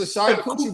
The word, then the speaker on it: charcuterie: It's a charcuterie board.